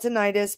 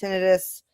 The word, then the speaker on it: tinnitus: He's complaining about ringing in the ear, buzzing in the ear, called tinnitus. A lot of people call it tinnitus, but it's pronounced tinnitus, at least in medical speak where I live, put it that way.